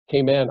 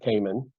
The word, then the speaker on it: Cayman: of Grand Cayman and that is how they say it McCain Cayman Islands came and not Cayman and Grand Cayman is